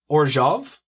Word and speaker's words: Orzhov: And I am playing Orzhov. Now, may also be pronounced Orzhov, which, however you want to pronounce it, that's cool with me.